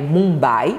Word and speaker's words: Mumbai: Tirando Delhi, a gente vai ter a cidade de Mumbai, A escrita é Mumbai, mas a pronúncia é Mumbai.